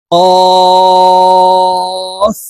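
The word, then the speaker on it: قاف: সঙ্গে লাগাইয়া উচ্চারণ করব কফ কাফ আর এই কাফ হরফের উচ্চারণ জিহ্বার গোড়া থেকে একটু আগে বাড়িয়ে উচ্চারণ করব কাফ কাফ লাম লাম মিম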